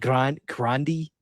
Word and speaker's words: Grande: Like Grandi, like the drink, you know?